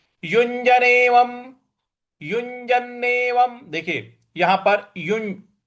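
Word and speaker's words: युञ्जन्नेवं: है शुरू करते हैं युजनेवम युजनेवम देखिए यहां पर युज उसके बाद ञ है तो य युज यज ऐसे बोलेंगे युजनेवम यजनेवम और व के ऊपर जो अनुस्वार है उसका म उच्चारण लाएंगे तो यजनेवम सदा सदा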